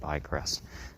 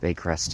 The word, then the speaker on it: Baycrest: I think I said Bycrest. But Baycrest and Cedarwood intersection.